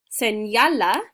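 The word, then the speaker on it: señala: turtle little turtle seniala the little n with a mustache sounds like an n y combination in spanish it's nya it's called the enye senyala means point to or show me and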